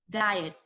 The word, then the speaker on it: diet: Diet. Please repeat after me. Diet. Diet. Diet. Thank you. Again, diet. Diet. Yes, don't forget to pronounce the ending sound.